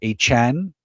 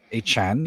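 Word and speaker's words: Achane: Travisen or Achan as he likes to pronounce his name. He's joining as Achan.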